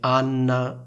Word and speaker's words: Anna: Quindi sentite la differenza tra il nome Anna e il nome Ana?